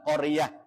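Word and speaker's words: قرية: cara bacanya ashabal qarah tulisannya qoryati dibaca qorah karena ada tanda wqaf mim artinya mutlak berhenti itu ta Yang bunder namanya tamarbuto ketika wakaf ketika mandeg ketika berhenti itu diiwat menjadi ha jadi tulisnya qoryati dibacanya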